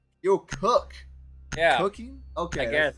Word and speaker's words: Keokuk: Keokuk. Keokuk.